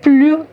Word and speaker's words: plus: My S is going to be silent.